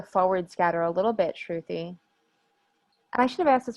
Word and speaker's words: Shruthy: probably increase the forward scatter a little bit truthy i should have asked this earlier on am i pronouncing your name correctly yeah actually you are